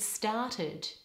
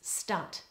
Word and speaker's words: start: now in this sentence many non-native speakers miss the long are vowel in the word start I often hear it pronounced as stunt or started sounds more like stuttered so make sure you're getting along our vowel there and also in the